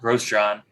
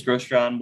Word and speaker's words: Grosjean: the win over romain grosjean the former left one driver for haas i was watching that race gross john was grosjean sorry i can't even say his name right uh was really um